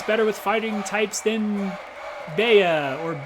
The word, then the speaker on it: Bea: A lot of people do pronounce it B, but in my brain, it's like, okay, if B is spelled B-E-E, it can't also be spelled B-E-A. Like, that doesn't make sense. A doesn't make an E sound.